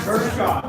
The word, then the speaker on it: Kershaw: My son carries a Kershaw folder. I'm sorry if I'm pronouncing Kershaw. Nope. Kershaw is the way to pronounce it.